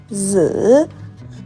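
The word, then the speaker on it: 子: We pronounce it "zi".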